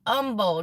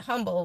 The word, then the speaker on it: Humble: you guys say it Umble don't y'all the H is silent I had to figure that out I still call it humble but I know y'all's